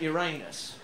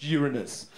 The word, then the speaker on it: Uranus: You're calling a planet Uranus. Yes, well, what's wrong with that? And actually, it's pronounced Uranus.